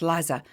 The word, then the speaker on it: Lisa: Anyway, Lisa, pronounced Liza, led you astray at her interview.